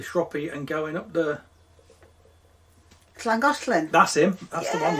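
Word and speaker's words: Llangollen: the one yeah yeah make sure you say it properly because she's welsh slan got len it doesn't matter it's only i only know because i'm welsh just have a mouthful of spit and you'll be okay anyway that's to look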